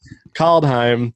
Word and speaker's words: Kaldheim: call it call behind i said it right caldheim i've been doing the same thing for the